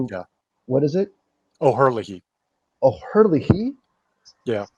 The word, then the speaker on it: O'Herlihy: O'Herlihy. Yeah, I believe that's how it's pronounced. That's how I believe I've heard it pronounced before.